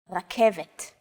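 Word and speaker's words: רכבת: The K, V, and T sounds are practically identical to English. It's only the R that's a little different. Focus on this first letter. It's often written as an R, but don't be fooled. This letter is pronounced differently than an English R. It's pronounced at the back of the throat instead of forward in the mouth.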